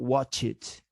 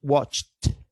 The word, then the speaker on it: watched: add the suffix idi we should pronounce this as t i mean watched watched not watch it not watch it but watched what happened with the